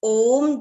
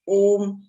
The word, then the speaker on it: ओम: हम कहते हैं ओम एक शब्द है, लेकिन ओम भी 3 शब्दों से मिलकर बना है, अ, उ, म।